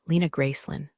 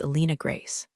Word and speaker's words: Alina Grace: Please welcome uh Lena Gracelyn, former CTO of Cloud Harbor Solutions. My name is Alina Grace. No Lynn, no former, and I